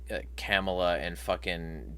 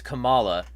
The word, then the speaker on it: Kamala: a stream about some of the sins of camel and Tim Wales um I like saying camela because it's it's funny but it's also wrong like it's Kamala but like everybody who wants to say her